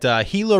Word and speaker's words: Gila: Glendale, the city of Glendale in Arizona, where the Arizona Coyotes play at Gila River Arena, which I used to pronounce Gila River Arena. Apparently it's Gila River Arena.